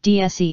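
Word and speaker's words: déesse: line of its DS models pronounced DSE in French for goddess Pallas it was voted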